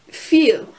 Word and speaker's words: viel: And then there's EI, which makes the I sound, so like an eigentlich, which is actually, when you see I and E, it's the E sound, like in viel, which means much, and